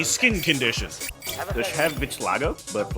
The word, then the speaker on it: vitiligo: Does she have vitiligo?